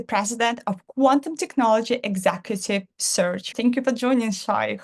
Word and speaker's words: Psirch: absolutely so uh search uh is pronounced it's pronounced search but it's spelled PS i r c uh